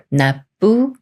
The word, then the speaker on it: 납부: 말이 와서 납부가 되는데요 이렇게 비읍 받침이 초성 비읍 만나면 쌍비읍 소리인 뿌로 바뀌면서 나 뿌라 읽어요 나부 나부 예문 읽어 볼게요